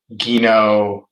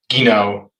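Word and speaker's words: Guinand: additions to the collection the guino gino i believe it's pronounced somebody had corrected me in the comments the gino series 40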